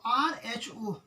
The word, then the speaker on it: rho: हाँ, इसको पढ़ते हैं रो, देखिए इसको पढ़ते हैं रो, RHO, रो, ठीक, RHO, रो पढ़ते हैं, ठीक है, प्रोनाउंसिएशन RHO, रो को क्या बोलते हैं, रेसिस्टिविटी, ठीक है।